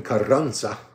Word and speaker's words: Carranza: Okay, so, Ruben Carranza, it's 2 R's, so you roll your R's.